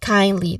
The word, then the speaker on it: kindly: This is where the stressed syllable is, which is on the first syllable, kind, which has a diphthong sound, I, so kindly. Then the second syllable has a short A sound, li, so kindly.